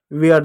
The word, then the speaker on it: ware: वेयर देखो WARE, डब्ल्यू का वो हो गया, ए का एक ही मात्रा ये हो जा रहा है, आर का र हो जाएगा, वेयर, ई साइलेंट हो जा रहा है।